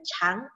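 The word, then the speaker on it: 长: kita sudah tumbuh panjang jadi tulisannya sama persis Tuhan Punya bedanya cuman ada bacanya Oh dia dibaca artinya tumbuh kalau dibaca Cang artinya panjang ya jadi jangan heran kenapa tulisan ini kadang ada yang dibaca Khan ada yang dibaca chatnya ada dua nada bacanya Ok lanjut wanita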